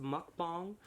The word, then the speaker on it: mukbang: Before I start this video, I just want to say I incorrectly pronounced mukbang several times in this video. I looked it up. It is pronounced mukbang.